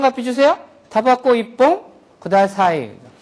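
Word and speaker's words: 一本: 바뀐다고 했으니까 퐁이 돼야 되는데 있지 뽕 하려니까 발음하기가 나쁘잖아요. 그렇죠? 이쪽에서 파열음이 오려고 하니까 자연스럽게 이 녀석이 초금화를 일으키는 거죠. 그래서 이뽕 그렇게 되는 거예요. 이뽕. 그래서 담배 한 가피 주세요. 타바코 이뽕 그다사이.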